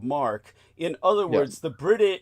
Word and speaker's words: marque: The British government or different it spelled like it would be called letters of marquee but it's pronounced letters of mark.